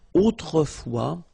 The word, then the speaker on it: autrefois: And then we've got this autrefois, so it could be translated like in olden days or in olden times, okay? Autrefois, so A-U, autrefois, final S not pronounced, okay?